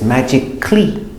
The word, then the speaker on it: magically: Sometimes the A is silent, like this combination, CALLY, because when you say this, it's magical, but you put the ly, it's magically, no A. Logically, physically, no A.